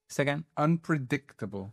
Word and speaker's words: unpredictable: There you go. Unpredictable. Donc vraiment sur la trème syllabe.